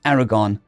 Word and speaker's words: 4R490RN: The team was led by 4R490RN, pronounced Aragon, a Republican naval intelligence